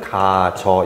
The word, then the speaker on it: 가져: 가지다 플러스 어 하면은 표기는 우리가 가져라 하지만 발음은 가저 이렇게 해요 이게 무슨 차이가 있냐고요